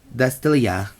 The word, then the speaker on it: Astesice: And 4 copies of Charming Style Astesice. Because I think the T is silent on this one.